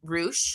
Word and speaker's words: Reusch: So Will Roo, am I pronouncing that right?